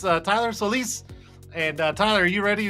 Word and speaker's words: Solis: I don't say his last name often, but it's Tylor Solis.